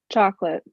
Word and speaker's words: chocolate: do you pronounce Aliana chocolate just two syllables chocolate chocolate chocolate chocolate chocolate